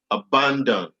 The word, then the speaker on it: abandon: Abandon, abandon, abandon, abandon. Ban is where it is.